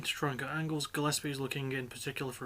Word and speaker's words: Gillespie: Sorry, Gillespie. I keep forgetting there's pronounced with the hard G, not the soft G, because I'm so used to hearing it as Gillespie.